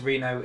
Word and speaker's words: Reno: a failure and that car brand his name's Reena oh it's pronounced Reno in our children and he's one of the